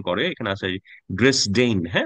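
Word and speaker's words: Dresden: মনে হয় জার্মানে অন্যভাবে উচ্চারণ করে এখানে আছে ড্রেস ডেইন হ্যাঁ উচ্চারণ এভাবে করে আর কি এটা ছিল জার্মানদের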